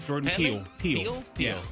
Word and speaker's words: Peele: Peele. Yeah. So the other E is silent.